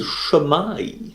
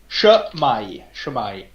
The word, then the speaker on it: shwmae: No, he started with Shemai, which sounds very much like some kind of 70s disco group.